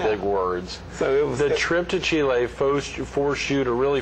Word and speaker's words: Chile: days we went to Chile Chile let me pronounce it correctly Chile Chile I just Chile dogs that's